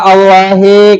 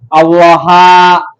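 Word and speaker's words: اللهِ: Kenapa dibacanya allahi? Kenapa enggak dibaca Allaha? Kenapa enggak dibaca Allahu bismillahrahma? Kenapa enggak dibaca bismillahurrahma? Kenapa kok dibacanya hi? Oh, sebab kalimahnya diidofatkan.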